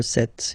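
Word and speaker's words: sept: it s vanis vanet remember set it was this P disappear you don't pronounce it vet so here you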